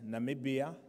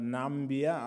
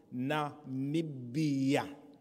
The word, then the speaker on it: Namibia: I will present Namibia, not Nambia, others are struggling to pronounce it. It is called Namibia.